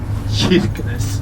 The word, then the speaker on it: Kirkenes: So you say also church, and we use the same pronouncing. Kirkenes.